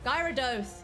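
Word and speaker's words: Gyarados: know just like saying a k-pop um idol's name wrong i'm sorry pokemon people out there please please forgive me guy rados gyrados yes yes yes yes brought to you by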